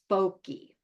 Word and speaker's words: Foky: We named this bear Foky. Now that rhymes with smoky, but if you're an